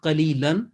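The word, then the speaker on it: قليلا: If that is a proposed, and if you take that option, the pronunciation will be thamanan qalila. Simple.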